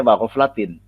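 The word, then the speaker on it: وَغَفْلَةٍ: Bacanya wa ghaflatin, jar juga karena asli kalimatnya adalah wa aslu kulli ghaflatin.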